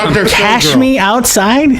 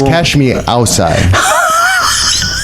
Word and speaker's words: catch me outside: or something yeah outside did you say cash me outside that's their catchphrase oh my gosh no it's catch me outside yeah it's horrible at first you're putting a lot of extra syllables when I first heard